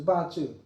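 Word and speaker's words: bazi: So so before we go more into bachu which is pronounced as bachu.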